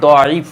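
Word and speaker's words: ضعيف: হ্যাঁ, এটাকেই বলা হয় দয়ীফ, অর্থাৎ যেহেতু দোয়াত দিয়ে উচ্চারণ দয়ীফ, কেউ এটাকে দয়ীফ বলেন, কেউ জয়ীফ বলেন, অর্থাৎ দ এর উচ্চারণ যারা জ করেন তারা এটাকে বলেন জয়ীফ।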